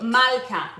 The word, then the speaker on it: מלכה: Malka.